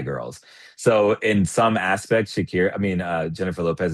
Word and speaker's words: Shakira: Shakur or Jennifer Lopez? Shakira or Jennifer Lopez. Okay, let me say it correctly. Shakira.